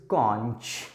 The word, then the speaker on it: conch: 9वें number पर word लिखा है बच्चों, जरा ध्यान से इसका प्रोनाउंसिएशन करिए, इज कॉन्च, CONCH।